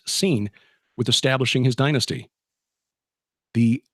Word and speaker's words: Sin: the moon God called seen that's spelled s i n but pronounced scene with establishing his dynasty